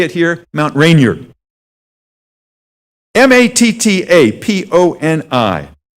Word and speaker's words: Mattaponi: M-A-T-T-A-P-O-N-I. Looks like Mattapony. That's kind of a neat name. What is a Mattapony? Unfortunately, it's pronounced Mattaponi, and it's a Native American name.